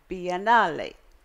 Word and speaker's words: Biennale: And then I learned the Italian, which you must say it correctly if you're going to Italy, is Biennale.